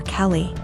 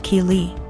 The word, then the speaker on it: Keeley: was calling my daughter Kelly my daughter's name is Keeley pronounced Keeley so after school was